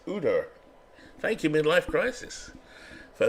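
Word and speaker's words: Ujdur: Jerry Ogier, what's it? The J is silent. Udor. Sounds like the guy from Game of Thrones. Hodor.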